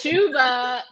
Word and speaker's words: Chuba: Chuba, it's spelled like Chubba, but Chuba Hubbard.